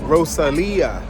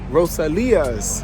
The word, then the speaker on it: Rosalia's: the next one peace the name of the place is pronounced Rosalia Rosalia roselia's Pizza very good